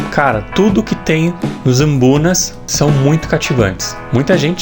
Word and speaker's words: mbuna: No caso são os ambunas. Ambunas. A pronúncia é meio estranha. É uma palavra do dialeto chitumbuco. Por isso tem essa pronúncia meio esquisita. Palavra africana. Eu sempre falei errado. Eu sempre falei mibunas.